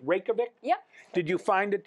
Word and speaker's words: Reykjavik: Did you find in general, am I saying it right, Reykjavik?